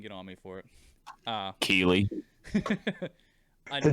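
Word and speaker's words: Keighley: We had Jeff Kigley. I know I'm pronouncing that wrong. Go ahead, Jay. You can get on me for it. Keeley.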